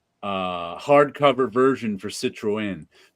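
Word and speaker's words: Citroën: the end is it Citron Citroen what was that Citroen you have to pronounce the E separately because it has a NL sitro in the car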